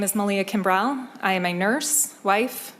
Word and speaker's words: Malia Kimbrough: Did I say Malia Kimrell?